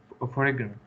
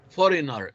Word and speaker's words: foreigner: perseverance, Perseverance and foreigner. foreigner. G is silent.